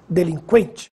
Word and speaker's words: delinquente: Agora preste atenção nestas palavras. Que, frequente, sequestro, delinquente. Agora sim, você ouviu o som da letra U.